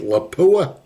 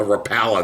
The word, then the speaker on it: Lapua: You get shot twice with 338 Lapua. A Rapala, that's what he called it.